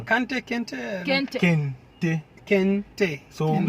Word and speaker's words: Kente: Kente? Kente. Kente. Kente. So Kente. if you want to pronounce it in tree, it's Kete. Oh, Kete.